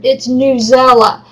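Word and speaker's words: Newsela: I was told it's Newzella, and that's how they want it to be pronounced, and I do.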